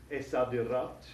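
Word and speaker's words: الصادرات: And we know that the sad, letter sad here, is a sun letter, so we don't pronounce the L in the definite article. It disappears and doubles the first letter of the noun. So it's esadirat.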